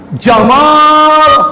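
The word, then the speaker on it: جمال: Gamal Abdul Nasir itu ya Jamal panjang artinya ganteng mereka tapi kalau dibaca pendek Jamal dia baca Gamal Gamal itu yang masuk ke bahasa Inggrisnya jadi kabel onta Maka kalau punya teman namanya Jamaludin Anda harus panggil panjang Jadi manggil si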